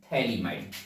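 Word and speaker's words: Phthalimide: compound को देखें तो ये कंपाउंड बोला जाता है थैली माइड स्पेलिंग ध्यान दीजिएगा पीएच से शुरू होता है थैली माइड एंड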